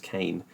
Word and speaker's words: Kane: Looks like it's pronounced Kean, but it's pronounced Kane. Captain John Kane.